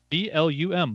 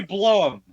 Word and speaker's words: Blum: Or trying to figure out how to pronounce Jason Blum's name. Blumhouse. B-L-U-M.